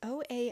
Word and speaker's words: Ole: And the 1940 was with the brother, I don't know how you say his name, Ole? It's Oalle. Oalle. Weird old-timey name.